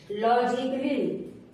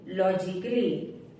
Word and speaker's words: logically: अगर ए के बाद डबल एल वाई आए तो ए साइलेंट होता है। जैसे म्यूजिकली, MUSICALLY, म्यूजिकली। म्यूजिकली नहीं बोलेंगे इसको, म्यूजिकली। लॉजिकली, LOGICALLY, लॉजिकली।